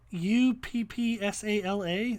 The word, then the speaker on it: Uppsala: uh it looks like vast mainland mainland then u-p-p-s-a-l-a uppsala up upsila and then cronberg cronenberg which